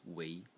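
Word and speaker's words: 囗: And it is pronounced wei.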